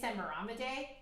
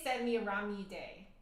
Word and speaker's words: Semiramide: I grew up saying Semaramide. That is completely wrong, isn't it?